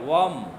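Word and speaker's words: वं: स्वाधिष्ठान चक्र का बीज मंत्र है वम।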